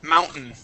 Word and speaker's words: mountain: button okay written button Mountain okay okay that's how we would pronounce those those t's um they're eaten they're swallowed up they're they're they're still